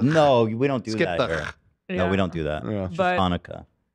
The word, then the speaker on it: Hanukkah: we don't do that Hanukah people from Israel probably think that's the way to spell it because they're thinking hanuka right we I would say in America we say it with an H like yeah hanuka yeah Hana oh Chaka o